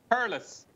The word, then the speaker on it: Thurles: Come, what is it? Yeah, it was Turles. Turles. There you go. So just pronounce it Turlis.